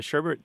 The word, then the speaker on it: sherbet: required um but but the traditional spelling and pronunciation do not have that second R sure now I live